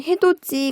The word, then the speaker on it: 해돋이: 그 다음에 해돋이 같은 경우에도 해가 돋다. 그리고 거기에 명사 파생접사 이가 붙었죠. 자, 이거 해돋이하고 국외음화가 일어나요. 디귿으로 발음하는 것이 아니라 지읒으로 발음이 돼요.